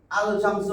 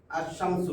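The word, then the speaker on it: الشمس: এটার সাথে আলিফ যোগ করে দিল যোগ করছি আলশামসু হবে না তখন হবে কিসলাম আশামসু বুঝছেন তো আশামসু এই আলিফের নাম উচ্চারণ হয় নাই এইযেশামস হরফ এর উপরে তা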